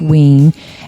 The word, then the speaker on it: Wein: It's spelled Wein, but it's pronounced Wein.